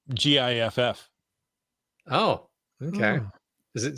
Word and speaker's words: GIF: So It's pronounced GIFF.